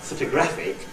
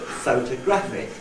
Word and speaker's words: photographic: If I say the word in isolation, it's not photographic, but photographic.